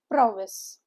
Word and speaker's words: prowess: How do we pronounce the word? The first syllable is given the stress.